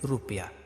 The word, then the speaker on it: रुपया: हम इसमें जोर नहीं देते हैं, ज्यादा समय तक रू नहीं कहते हैं, इसके उच्चारण में कम समय लगता है, इसलिए रुपया।